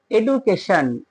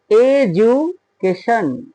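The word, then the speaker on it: education: এ টি আই ও এন আমরা অনেকেই বলি এডুকেশন এডুকেশন কিন্তু ভিউয়ারস এডুকেশন হবে না ওর সঠিক উচ্চারণটা হবে এজু এজুকেশন এডুকেশন দেখ এই রুলে পড়ছে এখানে ডি এর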